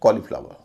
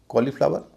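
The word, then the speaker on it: cauliflower: ओ का उच्चारण है लेकिन वह लंबा ओ नहीं है छोटा ओ है व शब्द है कॉलीफ्लावर कॉलीफ्लावर जिसका मतलब जानते होंगे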